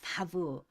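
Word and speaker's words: וָו: 돼 있죠 우 그러나 현대 히브리어에서 보통 부로 발음을 하게 돼 있습니다 하야 하면 예전부터 원래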